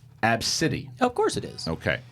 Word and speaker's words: Abcde: is it's pretty it's spelled ABCDE but it's pronounced AB City of course it is okay so AB City